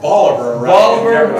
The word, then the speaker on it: Bolivar: get there right or isn't Bolivar actually it's pronounced Bolivar okay Martinsburg Jefferson can I've already mentioned that